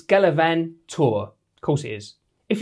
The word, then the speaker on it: Gallivan2R: first things first how do you pronounce the name of these new G4 shoes the galavan 2 Well turns out it's galavan tour of course it is